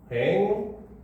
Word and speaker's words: 횡단로: 자, 그 다음 횡단로 같은 경우도 횡단노 이렇게 발음이 되고, 자, 이원론 같은 경우도 이원논 이렇게 발음이 되죠.